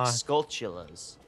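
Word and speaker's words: Skulltula: I always thought they were pronounced the way I just said it, but they're like Skulltolas. Like Skull. Yeah, I knew that. It's because they're like tarantulas. Yeah, I never made that connection.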